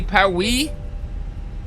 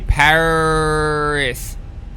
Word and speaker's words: Paris: that's what they did you're French okay so they they don't say pwi bonjour we say Paris so okay so let's